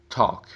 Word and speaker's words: talk: small, mall, chalk, walk, talk. Você pode perceber que as 3 últimas palavras, o L é silent, ou seja, é mudo, não é pronunciado.